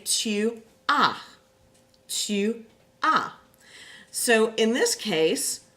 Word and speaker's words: as-tu: Now be really careful, especially with this verb, and don't put the S at the end when you pronounce it, because otherwise you end up saying as-tu. And that definitely does not sound good, okay?